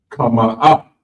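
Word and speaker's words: חמאה: Next up is butter, and it's pronounced kama up.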